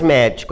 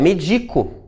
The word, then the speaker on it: medico: da sílaba tônica aqui não é mais médico é medico não é mais fábrica